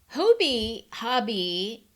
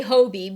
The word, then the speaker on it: Hobbii: Hobby, there's a whole video on how it's pronounced, which is kind of comical to me. I say Hobie because when I watch that video, the Danish accent for hobby sounds a little bit more like Hobie, but I think it's